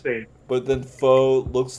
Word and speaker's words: faux: And then it's like That's actually pronounced faux, though. It's like, Yeah. I thought you were just saying fake news, like, just in general. No. Faux, as in fox, as in FAUX, as in faux.